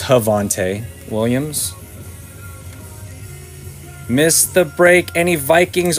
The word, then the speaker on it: Javonte Williams: It's actually pronounced Javonte Williams.